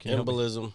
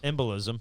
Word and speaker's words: embolism: of oxygen followed by uh oh, I can't pronounce this word. Embism. Embolism.